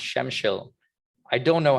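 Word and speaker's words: Przemyśl: me proper directions it's it starts with prz and it's pronounced shemshil i don't know how but it's pronounced shemshil um so uh the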